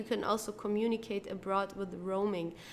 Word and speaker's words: Roaming: Roaming is an English word and for this reason we have to pronounce it the English way. Okay, roaming. So we don't say it as it would be in German like roaming or so it's roaming.